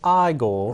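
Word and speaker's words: Igor: the two-dimensional characters no it's pronounced eye goal right eye goal yeah I love I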